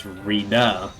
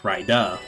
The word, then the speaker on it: Rida: pronounce my username, because most people end up thinking it's Rida instead of Rida.